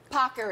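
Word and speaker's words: paccheri: as the Today's Show team made sure I pronounce properly pocker we have our Italian so we want to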